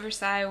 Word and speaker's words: Versailles: the palace of fores it's pronounced Versa um the Palace of versai was beautiful elegant Majestic